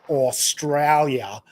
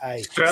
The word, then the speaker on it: Australia: Because Americans also with your pronunciation of the name of our country, you all go Australia.